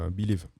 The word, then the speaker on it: Believe: Believe, mot anglais, hein, donc c'est pour ça que je le prononce à l'anglaise, étant né moi-même à côté de la frontière anglaise. Donc Believe.